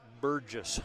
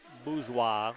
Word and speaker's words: Bourgeois: I would probably have pronounced it Burgess, but it's Bourgeois, which sounds French to me.